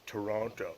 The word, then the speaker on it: Toronto: And no one says Toronto like that. It's two syllables. Biff the T. The second T you replace it with an N.